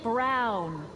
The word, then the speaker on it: Brown: to a t that's emmett brown rhymes with clown which i'm beginning to